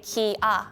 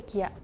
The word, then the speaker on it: Kia: possible maybe someone maybe actually in Korea we say Kia not Kia but the spelling is K so I think the most count says Kia not Kia but in Korea it's K not Kia so is Korean G